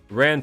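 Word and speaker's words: Rantaro: My name is Rano. Rano. Okay, I will say it correctly from now on. Rantoro Nice to meet you.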